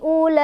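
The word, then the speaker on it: أُولَٰئِكَ: Hamzahnya ini yang i satu kalimat karena ulaika itu satu kalimat. Bacanya panjang 4 atau 5.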